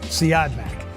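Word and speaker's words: Siodmak: Uh it's directed by Robert Seodmak. Seome. I don't know how to pronounce this. Number one, his name is pronounced Seadmack.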